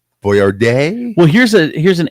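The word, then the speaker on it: Boyardee: National ravioli day that we've been pronouncing Chef Boyard D's name wrong and he was a real guy I didn't know he was a real guy I think his the is Boyard day well here's a here's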